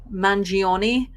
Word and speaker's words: Mangione: Mangione.